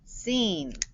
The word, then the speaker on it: scene: the play scene scene e silent e okay so this digraph the c is silent and we have silent